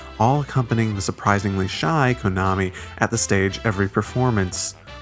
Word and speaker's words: Kanami: Kitchen, with its namesake Kanamin, also known as Konami, which is the best way to pronounce her name, by the way.